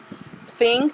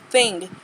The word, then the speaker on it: thing: Ter cuidado que não é think, tá? Think. Porque think é pensar. Quando eu falo thing, eu tenho que pronunciar o G, não muito forte, mas eu pronuncio ele no final da palavra.